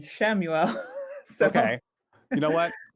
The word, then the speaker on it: Chamuel: seeing so many people because I say camuel and then I've seen people saying chamuel and shamuel so okay you know